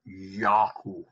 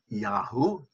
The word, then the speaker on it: Yahoo: Y-A-H-O-O. Yahoo. Yahoo. Not Yahoo, but Yahoo.